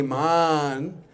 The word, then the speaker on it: मान: Now, Man with a short A means the heart. मन का और एक अर्थ होता है हृदय. But with a long A, Man means you take a little